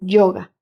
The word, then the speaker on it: yoga: las prácticas Originales del yoga pronunciado como una o larga que proviene del Antiguo